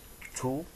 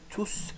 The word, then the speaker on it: tous: Deuxième remarque, si on voit la phrase C, le mot tous les enfants. Donc, le S final ne se prononce pas. Phrase F, tous sont partis, le même mot qui se prononce différemment, ça veut dire que le S final se prononce.